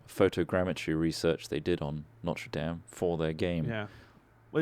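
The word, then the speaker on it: Notre-Dame: dame um oh sorry can you say it properly no notre dame notre dame it's notre dame notre dame never game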